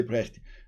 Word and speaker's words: Brecht: it somewhere, and then I was how is pronounced? Tell me, and you said just say Brecht.